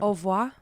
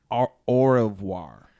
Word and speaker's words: au revoir: show we've been saying wrong the haier time Oh wah Oh wah it's pronounced of war au revoir or war or or revoir au revoir so